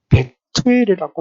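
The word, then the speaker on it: בְּתוּאֵל: 그의 부친은 부데엘입니다. 히브리어 원래 발음은 베투엘이라고 말하고 있습니다.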